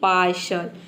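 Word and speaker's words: partial: जैसे कि पार्शल, पी का हो जाएगा प, AR का हो जाएगा आर, और TAIL ये पूरा हो जाएगा आपका श। यहाँ पे टी का श होगा और AIL हो जाएगा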